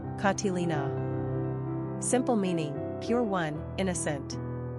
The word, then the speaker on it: Catalina: pronunciation katilina simple meaning pure one innocent characteristics of Catalina